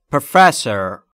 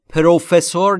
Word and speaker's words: professor: تلفظش رو دقت کنید بچه ها. پروفسور نیست. Professor, استرس روی F.